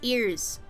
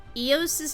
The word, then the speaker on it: EOS: saying eos's name is ears eos's name is eos eoos it's technically ezos but it's pronounced EOS I'll see this matter